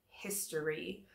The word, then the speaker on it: history: subject is history and it looks like hip story but we don't usually say story we say it like herb okay it's something in English that we call a schwa we squish the sound so it's history okay say it with